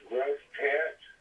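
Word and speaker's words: Grosse Tête: the town is pronounced gross tet uh it's actually a French name you gr and it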